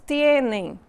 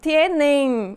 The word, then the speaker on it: tienen: Percebem que a pronúncia não é tienen, é tienen. Então, termina com N. Então, todos os verbos na terceira pessoa do plural terminam com a letra N e não com a letra M.